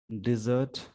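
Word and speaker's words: desert: अगर ऐसा दिखे आपको, नाउन के सेंस में, तो इसका मतलब होता है रेगिस्तान। इसको डेजर्ट बोलते हैं। सेम स्पेलिंग है, नाउन की तरह काम करेगा डेजर्ट, और यहाँ पे वर्ब की तरह काम किया तो डिजर्ट।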